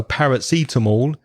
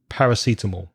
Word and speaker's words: paracetamol: we say in English we join those sounds together and we say eat them all eat them all eat them all so paracetamol is parrots eat them all paracetamol create another thing you